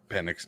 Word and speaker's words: Penix: Penix stiffened up, and I can't say Penix. I know that's how it's pronounced.